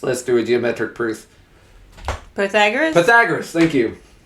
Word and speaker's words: Pythagoras: Pythagoras?